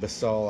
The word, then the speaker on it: Basel: In the Diocese of Basel, I believe is how it's pronounced, B-A-S-E-L, at the town